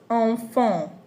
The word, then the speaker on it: enfant: So anywhere you see an in any word, en or em in any word, know that it is pronounced on. Our example says enfant.